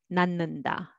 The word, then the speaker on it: 낳는다: And 낳는다, also 낳는다, 낳는다.